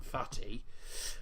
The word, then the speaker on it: Fathi: That's his actual name, Fathi, which is pronounced Fatih.